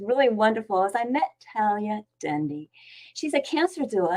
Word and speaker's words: Talaya: Talaya, welcome. Hi, Debi. Hi. And it's pronounced Talaya. Oh, Talaya, sorry.